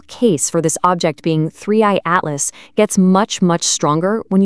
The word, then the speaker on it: 3I/ATLAS: object, the interstellar comet threeey/atlas. And just so we're all on the same page, you pronounce that threeey atlas.